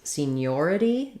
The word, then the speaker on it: seniority: your stresses on scene senior versus seniority we change to the stress on the second syllable so in seniority we have seen your ID seniority so senior first syllable stress seniority second syllable stress and in senior letters